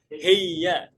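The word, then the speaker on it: هي: Hiya pun sama. Heya. Heya. Nah, dalam bahasa amiah ini sebenarnya materi nanti ya.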